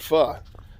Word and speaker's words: pho: the it's a noodles it's spelled p-h-o called pha and it's it's really